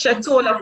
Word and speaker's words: Chetola: the opening of Learning Center of Chetola. Is that how it's pronounced? Yes, it's Chetola Parkville Nathan Education Center, and it's one of our schools that has a special education unit.